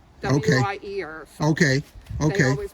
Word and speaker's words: Wier: Wier. Okay. W-I-E-R. Okay. They always pronounced it Wier in our family.